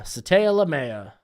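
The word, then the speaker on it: Sataoa Laumea: there we go but it is SATA lamea SATA lamea there we go perfect pronunciation how much did Dylan Johnson's 40 time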